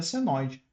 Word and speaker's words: senoide: Ele parece um tio, mas esse símbolo é chamado de senoide, né? A forma correta de da pronúncia seria senoide.